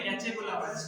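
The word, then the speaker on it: catecholamines: कैचेकोलामाइड्स, कैटेरी है कैचेकोलामाइड्स, ठीक है, ऐसे बोलो। पता नहीं क्या अंग्रेजी आधे चीजें साइलेंट रहती हैं, कंफ्यूजन बड़ी होती है भाई, ठीक है।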